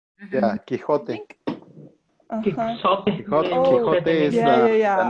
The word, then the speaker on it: Quixote: Yeah, Quixote. Quixote. Quixote is the name. Because with X, I would try and say it like Quixote.